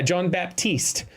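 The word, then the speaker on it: Jon Batiste: guy he just won a Grammy last yeah John Baptiste that's that's how he pronounces it for him um he's a dude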